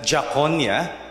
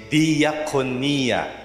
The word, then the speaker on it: diakonia: See, you don't pronounce it that jakonia. Gagalit yung mga Greeks kapag narinig na yan. But you say diakonia.